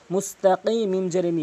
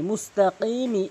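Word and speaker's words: مستقيم: যেমন এখানে এসেছে মিম সিন পেশ মুসতা জবর তাফ মুস্তাকিমি মুস্তাকিমি এখানে অধিকাংশ লোক মুস্তাকিম বলে কফের জায়গায় কাফের উচ্চারণ করে থাকে। অবশ্যই আপনি কফের উচ্চারণ করবেন জিহ্বার গোড়া উপরে তালু থেকে এভাবে ধাক্কা দিয়ে এখানে তান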